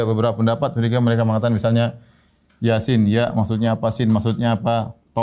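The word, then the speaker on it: يس: Toha, yasin, ya. Dan ini banyak dalam Al-Quran, ya. Seperti Toha, ya. Kemudian apa? Yasin. Dibacanya bukan toh, dibacanya bukan yes atau yes, bukan.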